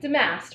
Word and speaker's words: Damast: Damast, but close enough, like the mast of a ship.